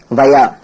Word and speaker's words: via: இதை உச்சரிக்கும் போது வயான்னு உச்சரிக்கணும், வாயான்னு உச்சரிக்க கூடாது. சரி, அடுத்து பாருங்க.